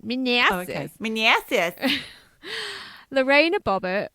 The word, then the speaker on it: Manassas: You have to say it like that. Manassas.